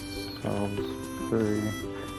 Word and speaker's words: Salisbury: Salisbury. Salisbury's pronounced differently from how it's spelled.